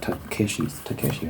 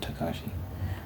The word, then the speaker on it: Takeshi: Is it Takeshi, right? It's spelled Takeshi, but people pronounce it Takashi. I don't know why I'm getting hung up on that. It's not relevant. Yeah, it's spelled Takeshi's Castle, but I hear people pronounce it Takashi.